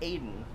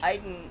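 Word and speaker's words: Aiden: I'm doing my god it's usually pronounced Aidan yes when I put David cage iDEN isn't is also valid but this game has pronounced it both ways so I don't know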